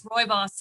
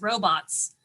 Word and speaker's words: rooibos: Although I think I will now pronounce rooibos as robots.